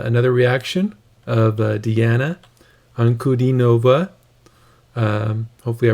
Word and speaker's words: Ankudinova: uh know that the it's uh good d nova the d sound there so yeah i'm reading